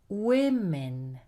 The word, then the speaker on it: women: Also, an O can produce the sound I. For example, in the plural of woman. One woman, but two or more women.